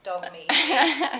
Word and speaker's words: Dogme: Is there anything else about Dogme ELT that people... Oh, sorry, I'm saying it wrong again. Dogme.